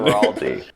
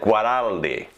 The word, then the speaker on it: Guaraldi: Guaraldi. Yeah, with a hard G. Guaraldi, hard G. But in Guaraldi. Italy, they pronounce it Guaraldi.